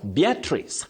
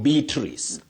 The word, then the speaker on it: Beatrice: Beatrice, not Beatrice.